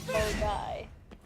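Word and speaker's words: Milngavie: Have I told you about the place outside Glasgow that's called Mulgai? Nope. It's spelled MILNGAI.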